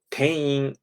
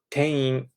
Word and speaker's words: 店員: It is spelled ten-in. However, in Japanese, many times I have noticed that when you have a single and then a vowel like I, you don't really close your mouth.